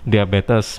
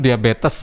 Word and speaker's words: diabetes: media bad diabetes ya bukan diabet ya karena orang lain sebut diabet itu sudah merasa Betul tapi yang betul diabetes militus ya ada tasnya ya